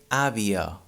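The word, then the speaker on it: àvia: sound in this case avia is spelled a v i a in catalan here the first ah has an accent an open accent on it so it's the strong syllable it sounds a but the last one it's in a weak syllable and in this case it sounds uh we say avio so this at the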